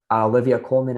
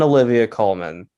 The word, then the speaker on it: Olivia Colman: Ya Jung-yoon at 3, Olivia Colman at 4, and man, it's between Foster and Close.